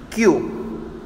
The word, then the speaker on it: queue: See, though this word is long, QUEUE, but the pronunciation depends on only first alphabet. Yes, don't get confused. It's as simple as that. See, now repeat after me. QUEUE, Q.